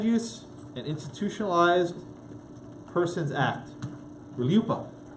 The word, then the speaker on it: RLUIPA: RLUIPA. It's like Rihanna, but RLUIPA.